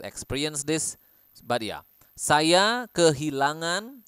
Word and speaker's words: kehilangan: this but ya saya kehilangan nazle sound again saya kehilangan anak saya